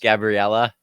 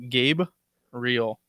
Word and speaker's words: Gabriel: which makes no sense gabriella that's not even that would be like gabriella like it literally spells out gabe real not that hard i was always jesse